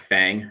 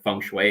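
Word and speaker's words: Feng: actually uh obviously like Americans are going to pronounce that as like Fang right and um so that's actually a Chinese word it's fun it's like like fun and it means wind oh was close yeah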